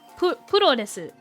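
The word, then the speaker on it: プロレス: The word cosplay comes from costume and play, and pro wrestling is puro desu.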